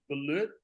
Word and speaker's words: balut: You got it's if I've been saying it wrong, it's not balut, it's balut.